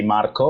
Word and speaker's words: Marco: This is Marco, aka, I'm Italian, so I should say Marco, like a proper Italian should say.